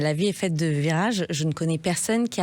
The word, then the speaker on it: Vyraje: un podcast qui s'appelle Virage. Alors ça s'écrit différemment de ce qu'on pourra en croire. Ça s'écrit V-Y-R-A-J-E et c'est sur YouTube